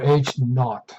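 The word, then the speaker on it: H₀: H subscript 0 would be the null hypothesis, or H naught, they call it. That's how you pronounce it.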